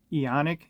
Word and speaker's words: Eoniq: unboxing a watch from well I'll pronounce it ionic is e-o-n-i-q they reached out to